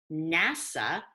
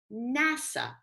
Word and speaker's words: NASA: of them such as NASA National Aeronautics and Space Administration is pronounced as a word NASA we don't say n a s we say NASA however